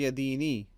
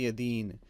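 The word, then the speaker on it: يَدَيْن: And you don't say yadini, you say yadeen. Because at the end of this ayah, because we're stopping here or pausing, because of a pause, we do not pronounce the vowel on the last letter.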